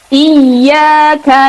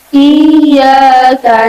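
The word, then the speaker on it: إِيَّاكَ: Yang pertama, mengucapkan huruf ya yang bertasydid, ya. Pelafalannya jangan seperti ketika kita menemukan ya sukun bertemu ya. Ya, meskipun sama harus ditasydidkan. Tapi di sini adalah ya bertasydid. Ya, caranya membaca tasydid adalah sedikit ditekan.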